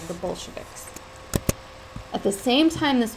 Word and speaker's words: Bolshevik: And some of the people who felt this way were called the Bolsheviks. You see it up there, it's B-O-L-S-H-E-V-I-K-S. It's pronounced Bolshevik.